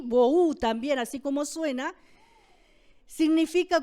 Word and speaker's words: bohu: vacía, que viene de una palabra hebrea que se escribe tohu con H intermedia, y bohu también, así como suena, significa confusión y vaciedad de esa palabra.